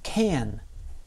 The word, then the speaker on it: can: Notice something about how I pronounce can. I can speak English. I can speak English. I changed the vowel sound in can. Instead of can, I said can.